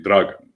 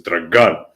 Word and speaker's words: Dragan: names like Dragan, which in proper Serbian would be Dragan, right? But he says Dragan, which is sort of how we talk here in the south.